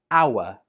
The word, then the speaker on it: hour: Again, this is a silent H, and this word is pronounced hour.